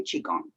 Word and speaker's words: qigong: it's the same however i say i say qigong shigang is kind of a little combination of both so qigong so we start with the two parts of the word to understand what is qigong there's chi the q i the chi part